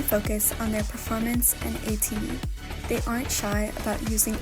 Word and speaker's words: ATEEZ: But so like the idea of being called tiny, even though it's pronounced ATEEZ, like teeny tiny, I don't like it.